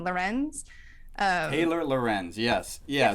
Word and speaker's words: Lorenz: Lorenz.